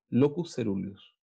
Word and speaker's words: locus coeruleus: Mira, se escribe locus coeruleus. Y se pronuncia locus ceruleus. Así, ceruleus. Pero se pronuncia coeruleus.